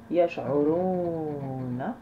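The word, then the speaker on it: يشعرون: Yash'uruna. Donc le A, on ne prononce pas, on est arrivé à la fin de la ayat.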